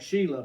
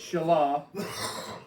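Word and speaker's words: Shelah: And she bore still another son and named him Shalah or some folks might pronounce that Sheila, but that's not really it's Shalah.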